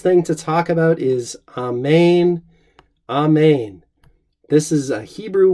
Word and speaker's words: Amen: First couple things we want to notice is the second syllable, as in Greek, is long. Amen, Amen. I'm pronouncing it there the way that it appears in our Greek texts, but you could also say Amen, Amen if you wanted.